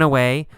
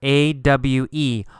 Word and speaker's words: awe: the word ah here a-w-e oh it's pronounced you don't actually say a w sound there's not awa no